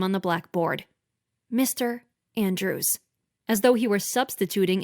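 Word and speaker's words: Andrewes: that kind of finesse franklin's last name was the same as emma's in pronunciation but different in spelling hers was the old way andrews a-n-d-r-e-w-e-s derived from shakespeare's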